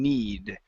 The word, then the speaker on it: knead: to need the dough's the K is silent K is silent on need okay okay on that